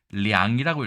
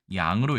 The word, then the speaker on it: 량: 그래서 이것은 량이라고 읽어야 되는데 우리 두음 법칙에 의해서 양으로 읽고 있고 63위에 6만 9천 명 양씨보다도 거의 한 7배 가까이 많은 성씨가 바로 이 들보 량을 쓰는 량씨입니다.